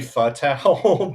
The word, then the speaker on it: Fatale: And what I want to ask too is about Foxy Fatale. If I say her name right, It's actually Fatale, but it's okay.